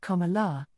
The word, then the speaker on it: Kamala: And a note on her name, Kamala is pronounced Kamala, and it means lotus flower.